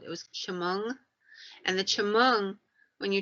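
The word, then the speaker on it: Chemung: indians had a word they called it was chamong and the chimong when you translate it means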